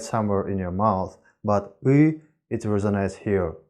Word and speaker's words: Ы: What you need to know about U is that it resonates somewhere here in your throat rather than in your mouth.